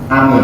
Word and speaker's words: amin: Ya, panjang depannya, lebih panjang belakangnya. Itu yang benar dalam pengucapan lafal amin.